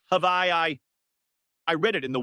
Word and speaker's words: Hawaii: It's their first time in Hawaii, a trip they've been talking about for years.